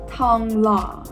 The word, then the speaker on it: Thong Lo: Very much in the middle of the Sukhumvit corridor and served by the Thong Lo BTS station, pronounced Thong Lo.